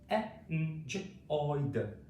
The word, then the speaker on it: enjoyed: Enjoyed. Enjoyed. Okay, so remember these are all past tense words, and these particular ones ending in ed make the D sound at the end.